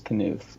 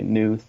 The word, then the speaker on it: Knuth: Yeah, so my last name is my real last name is Knuth, and people can never pronounce it. It gets kind of annoying, especially in class. People, say Nuth or whatnot. They just always think the K is silent, and I'd always just get like really frustrated about that.